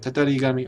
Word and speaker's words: Tatarigami: Tatarigami.